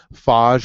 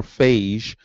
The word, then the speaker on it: phage: Macrophages, macro means large, phage or phage, some people pronounce it different ways, phage or phage means eater, to eat.